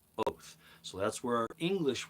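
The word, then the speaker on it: אות: It's pronounced oath. Yep, it's pronounced oath.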